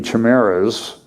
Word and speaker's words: chimeras: So far, these human monkey chimeras is how it's pronounced, are no more than bundles of budding cells in a lab dish, but the implications are far-reaching, ethics experts say.